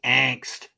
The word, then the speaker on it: Angst: Okay, well, I am going to talk about a little movie called Angst, or as we Americans say, Angst, and which is German for fear.